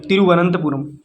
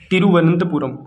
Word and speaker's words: तिरुवनंतपुरम: यहां प लिख रहा हूं आर ए एम तिरुवनंतपुरम यहां पर मैं अच्छे से लिख देता हूं